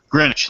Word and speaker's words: Greenwich: I'm sorry, how do I pronounce it? Is it... Greenwich? Greenwich, thank you.